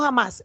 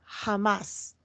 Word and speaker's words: Hamas: moderno conocido como Hamas y pronunciado como Hamas. Por favor, no, y ahí está subrayado en negrilla, mayúscula, no confundir la palabra española jamás, es decir, cuando nosotros